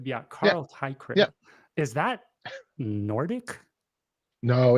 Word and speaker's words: Teichrib: You know, you pronounce it in 2 pieces or 2 parts: tie and a crib. So you think of a bow tie and a crib. Teichrib. Okay, Teichrib. Yeah, Carl Teichrib.